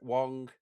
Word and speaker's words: Wang: And in new roles are noted Trek alumni, Garrett Wang, rhymes with slang, as not an ensign.